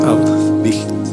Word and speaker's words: Auschwitz: concentración, entre ellos el famoso de Auschwitz, se pronuncia Auschwitz.